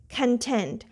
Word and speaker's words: content: Here this part is unstressed. This syllable is unstressed, and tent is a stress. Content.